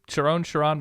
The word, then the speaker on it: Sherrone: Per the 2007 Oklahoma Sooners pronunciation guide, it's Sherrone. That's what I saw. Sherrone Moore. Sherrone. Yeah, I kept hearing Sherron on broadcasts and stuff, and so